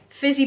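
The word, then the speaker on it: Phizzy: How do you even say that? Fizzy Pop, but it's spelled P-H.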